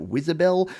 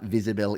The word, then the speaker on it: Wizibel: so you can see firstly it's actually spelled W I said IB L you could pronounce it Whizzer Bell but visible is what it's usually known by and what it does